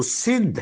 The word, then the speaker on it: سندھ: ہند کی طرف سے، یہ جو ہند ہے اس کا صحیح جو اجرائی تلفظ ہے وہ سندھ ہے، سندھ۔ سین جس وقت آگے ادھر وسط ہند میں جاتا ہے تو سین کو ہے سے بدل دیتے ہیں، صحیح تلفظ سندھ ہے، اور آگے پھر ہندی زبان کی ترکیب میں اس کو ہند کہہ دیا گیا ہے۔ یہاں جو پرانی تہذیب